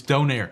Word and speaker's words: donair: It's not Donner, it's Donair.